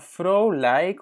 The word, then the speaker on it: vrolijk: Maar vrolijk, on dit plutôt Vrolijk, oké?